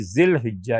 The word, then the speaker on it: ذوالحجہ: پڑھی بھی ہو تو یہ لفظ کبھی ذوالحجہ استعمال ہوتا ہے اور کبھی ذی الحجہ استعمال ہوتا ہے، اور مختلف حالات ہیں، لیکن یہ دونوں الفاظ ٹھیک ہیں۔ لہٰذا ذوالحجہ، ذو والا،